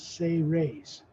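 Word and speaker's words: Seres: ray's human race s-e-r-e-s pronounced as if it was spelled s-a-y r-a-y-s say raise you can see the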